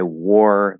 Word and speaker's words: wore: Also the word war, which is, it's going to be pronounced exactly like this word, which is the past tense of wear. So you wear clothes. I wore that shirt.